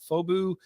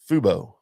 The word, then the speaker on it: Fubo: And coming soon, our RHS TV, right, on Fobu, anywhere you do your streaming. What's Fobu? Did I say it wrong? Fubo.